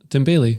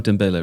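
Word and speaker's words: Dembélé: on huge money so tim bailey oh dembele right yeah that's the scottish pronunciation yeah you said dabeli anyone's name anymore scotland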